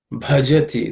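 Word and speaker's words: भजति: The last line, Muktimna Bhajati. This bha is an aspirated consonant because it's the fourth letter in the pa class of sounds.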